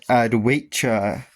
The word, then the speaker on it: Adwaita: I know I wasn't doing it in the previous parts, but this is the character of Adwaita. That's actually how you pronounce it.